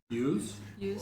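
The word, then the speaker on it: Iuz: I think that's how it's pronounced. I-U-Z. Use? Use, yeah, use.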